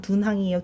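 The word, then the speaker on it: 敦煌: 돈항이 중국 발음 둔항이에요.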